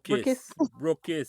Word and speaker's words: Brookites: Is that how you pronounce it? Brookis. We're Brookis. all Brookis now, yes.